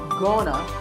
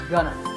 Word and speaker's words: gonna: talk about the future notice that it's not gonna it's pronounced gunner here are some sentences